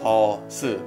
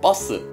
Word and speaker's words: 버스: so you would think this word would be pronounced all soon but you're wrong it's pronounced much stronger awesome yes it means bus in English here's another